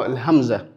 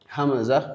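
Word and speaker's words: همزة: Puis nous avons Hamza. Hamzaah qu'on peut dire a tout simplement. C'est comme la lettre A de la langue française on dit A ou elle est prononcée complètement Hamza.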